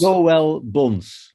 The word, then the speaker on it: Joël Bons: Joël Bons.